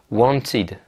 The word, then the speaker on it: wanted: Si le verbe se termine par un D ou un T, ça va se prononcer id. Par exemple, wanted.